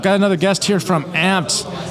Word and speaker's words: Ampd: on your Google campaigns and that's spelled amp D so no not not not you know the traditional way but ampd if you want to